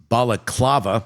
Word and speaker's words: balaclava: Prosecutors say the Balaclava, did I say it right?